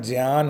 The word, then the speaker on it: ज्ञान: बच्चों को बताए कि जो हम ज्ञान कहते हैं वो आधा ग और यान का उच्चारण करते हैं, लेकिन एक्चुअल में ये उच्चारण ज्ञान होता है।